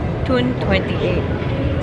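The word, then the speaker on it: Toun28: We pronounce it as Tune. Tune 28.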